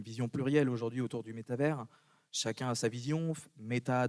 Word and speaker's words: métavers: Donc, pour répondre à ta question, on dit le métavers, on ne prononce pas le S, ou alors on dit le métaverse en anglais, et c'est en réalité, à l'instant où je vous parle, plutôt les métavers.